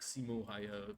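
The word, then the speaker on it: Simo Häyhä: it's like Simo Haya. That's how English people would pronounce it.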